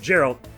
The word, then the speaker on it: Geralt: Well, no, but I'm pretty sure the way I remember it is that they definitely are pronounced differently, and Geralt, Three Houses, is clearly spelled with a J, so that's an easy one.